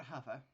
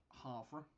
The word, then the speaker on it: Havre: want to go to hover uh because that is by the way how you pronounce it hover not harford a half we're going to